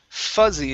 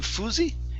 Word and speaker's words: fuzzy: this word here is fuzzy instead of fousey it's fur fuzzy fussy fussy okay now it's gonna be a z sound instead of fuss fussy